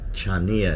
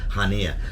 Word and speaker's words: Chania: to the port of hania it looks like chania if you look at on the map it's ch but it's pronounced hania but anyway I've got